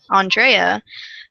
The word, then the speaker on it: Andrea: I prefer the pronunciation Andrea, but I'm not picky about how people say my name.